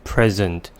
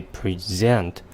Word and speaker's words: present: We may put the stress on the first syllable and say present, which means a gift. And we may also put the stress on the second syllable and say present, which means to show, to give, or to introduce something.